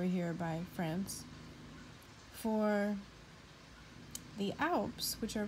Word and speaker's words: Alp: So scalp rhymes with Alp.